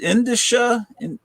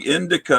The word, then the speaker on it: indicia: Indicia, but I think I was pronouncing indica or something.